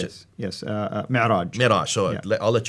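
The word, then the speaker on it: معراج: But that's where called the Mi'raj. How do you Mi'raj, pronounce yes. Yes, Mi'raj.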